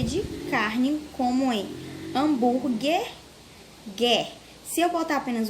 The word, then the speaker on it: hambúrguer: Ao pronunciar as palavras quiabo e hambúrguer, nas sílabas qui e gué, que letra não é pronunciada? A gente acabou de falar. Tem uma letrinha aí que ela não é pronunciada quando falamos hambúrguer. E quiabo. Não dá para ouvir o som de uma letrinha aí.